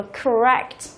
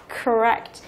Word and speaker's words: correct: Thì trong trường hợp này là tính từ, vừa là tính từ, vừa là động từ có 2 âm tiết, thì trọng âm của nó lại rơi vào âm thứ 2.